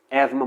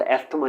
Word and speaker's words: asthma: भी अफेक्ट करता है, एज़मा बोलते हैं इसे, नॉट एस्थमा नहीं बोलते।